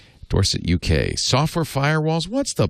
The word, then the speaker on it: Dorset: Question 4 is from Andrew Stevenson in Dorset, and he very kindly provides the pronunciation. Dorset, UK.